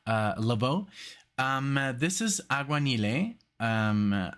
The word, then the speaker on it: Aguanile: Lavo um this is auan um auan with the accent on the E so I guess that's